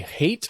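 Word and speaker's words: Hait: some reporting done by Ari hate I think is how you say it h-a-i-t who's writing for WPBF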